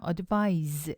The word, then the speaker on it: advise: 스펠링 주의하세요. advice, C로 끝날 때는 명사입니다. advice, 충고라는 명사고요. advise, 발음도 틀려지죠. advise라고 되면은 S로 끝나고요. vise 이렇게 되면 동사, 충고하다라는 동사가 됩니다. 지금은 명사니까요. advice라고 발음하시면 되고요.